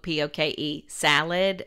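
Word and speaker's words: poke sallet: right and it's like somebody's saying poke p-o-k-e salad but it's made into one word it's poke salad now i look this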